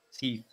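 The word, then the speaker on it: Seath: Questo drago, chiamato Sette il Senza Scaglie, Sith in realtà si chiamerebbe, però è meglio pronunciarlo in questo modo per una questione di differenziazione tra alcuni personaggi che hanno un nome simile.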